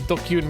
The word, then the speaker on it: DQN: So, I've seen dqn and I've never known how it was supposed to be pronounced. And dokyun makes a lot of sense.